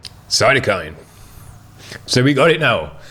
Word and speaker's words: Cytokine: It's Cytokine. Say it fast. Cytokine. Cytokine.